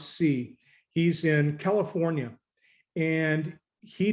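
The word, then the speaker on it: Tse: is andy c a-n-d-y his last name is spelled t-s-e pronounce c he's in california and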